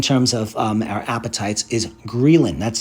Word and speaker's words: ghrelin: about it in terms of our appetites is grilling that's spelled g-h-r-e-l-i-nreeland so I mentioned that leptin tells us to stop eating greylin lets us know when we should start eating